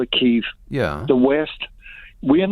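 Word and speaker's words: Kyiv: we're gonna get anywhere if people are calling it keeve now in recognition of how the ukrainians pronounce their own capital city's name if you say kiev i mean that just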